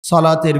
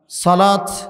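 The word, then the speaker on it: صلاة: এটাকে আপনারা সলাহ শেষে হ বাংলাতে যেটা হ বলি এটা উচ্চারণ করতে পারেন এটাও বিশুদ্ধ আবার যদি ত উচ্চারণ করেন সালাত সালাত এটাও বিশুদ্ধ আরবি ব্যাকরণ সারহকত নাদা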